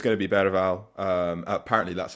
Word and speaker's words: Bergwijn: Yeah, for me, it's going to be Bergwijn. Apparently, that's how you're supposed to pronounce his name.